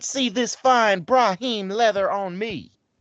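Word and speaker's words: Brahmin: not see this fine Brahim leather on me I'm pretty sure it's pronounced bramman as well partner like Rahim um well while we're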